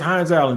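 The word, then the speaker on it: Hines-Allen: Josh Hines Allen or Josh Allen yeah it's hin Allen just just think first even though spell it like that just th th ha how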